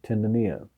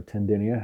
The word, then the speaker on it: tendineae: attached to the chordae tendineae or tendineae however you want to pronounce it from the papillary muscles